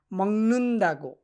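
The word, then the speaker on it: 먹는다고: উচ্চারণটা কি হবে? মংনুন দাগো, মংনুন দাগো, মংনুন দাগো। 19 কারের মতো হবে উচ্চারণটা, মংনুন দাগো।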